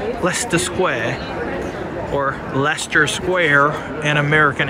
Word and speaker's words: Leicester: we pronounce Leicester or as people here say Lester square or Leicester Square in